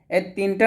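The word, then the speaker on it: ط: হরফটা উচ্চারণ করবেন তো ত টা অবশ্যই মোটা করতে হবে আমরা ত বলবো না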